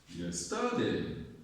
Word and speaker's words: yesterday: The first has a stress on yes. Yes. Yes. Yes. Today. Yes. Today. Yes. Today. Yesterday.